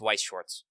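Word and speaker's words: Weiß Schwarz: I don't know why they chose to write the dumb German B like 2 S's, but it's Weiss Schwartz.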